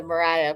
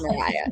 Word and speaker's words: Mariah: That part when it's pronounced right really really excites me. But I do appreciate you nailing the Mariah part of it.